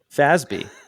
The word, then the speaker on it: FASB: of accountants is the Financial Accounting Standards Board fasby which the article had to explain how to pronounce because most people have never heard of